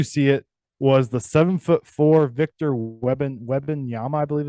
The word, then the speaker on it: Victor Wembanyama: My did you see it was the 7'4" Victor Wembanyama, I believe it's how you pronounce it.